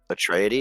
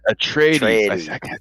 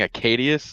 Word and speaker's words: Atreides: Atreides. Atreides. Atreides. I kept saying Acadius, and I knew that was wrong.